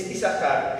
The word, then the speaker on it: Isacar: pero está porque si no sería isar es isar esta no se pronuncia pero está en la Biblia en el